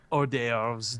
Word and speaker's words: hors d'oeuvres: Hors d'oeuvres don't have an H in them.